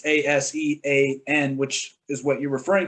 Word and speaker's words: ASEAN: I'm not sure how you pronounce it. It's ASEAN, which is what you're referring to, I believe.